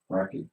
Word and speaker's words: Roquette: Um, Rocket Gamer would like for it to be known that's pronounced as Rocket. So Oh, like Rocket yeah, Raccoon. it's just spelled Roquette.